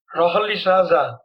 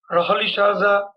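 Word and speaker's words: Rolihlahla: l that is a typical african language is pronounced like that rahali shaza nelson rahali shaza mandela and now this is apartheid is a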